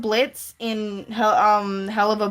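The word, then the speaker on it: Blitzø: The silent is um there's a character called Blitz in um Hell of a Boss and his name is spelled Blitz, but the O is silent, so there's an O on the end.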